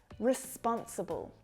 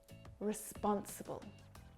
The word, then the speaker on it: responsible: Responsible. Responsible. Responsible. Hear how those unstressed syllables reduce down? Responsible.